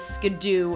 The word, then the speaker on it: Skiddo: You could ride a Skiddo or a Go-Goat, which, by the way, I only recently learned that apparently Skiddo's official pronunciation is Skidoo, and that doesn't even make any sense.